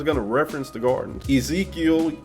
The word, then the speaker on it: Ezekiel: Ezekiel is pronounced Yezekiel in the Hebrew.